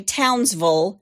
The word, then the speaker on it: Townsville: They say Townsville, just like we say Louisville.